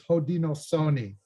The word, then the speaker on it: Haudenosaunee: Another thing that's a newer word that's been promoted by Indigenous people themselves is Haudenosaunee.